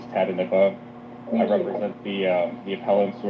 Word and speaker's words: Tatanippa: My name is Tatanippa. That's how you pronounce it, is Tatanippa.